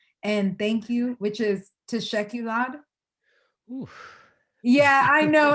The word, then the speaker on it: teşekkürler: then how do you say thank you? Teşekkürler.